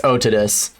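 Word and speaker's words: Otodus: holy i know pronunciation doesn't matter well it's otidus but he was going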